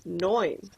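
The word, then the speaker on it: neun: awesome oops all right nine sounds pretty similar in english and german so we say it noin let's count these suns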